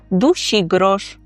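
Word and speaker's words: dusigrosz: Пишеться це слово разом. Душі грош. Наголос на передостанній склад.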